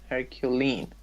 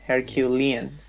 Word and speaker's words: Herculean: Herculean. Yes, Lean. Okay. Lean, Herculean. Yes.